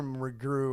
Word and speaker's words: McGrew: McGrew or whatever. Because it rhymes with zoo.